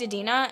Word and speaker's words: Idina: Don't say Idina, please.